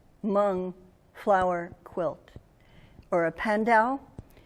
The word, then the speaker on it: Hmong: Yeah, there was a quilt, and it came from, and I can't really pronounce it, but you're supposed to wrinkle your nose first, Hmong flower quilt, or a pandau.